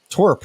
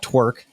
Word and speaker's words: TWRP: that's wrong button uh twerp work twerp not twerk where's this episode going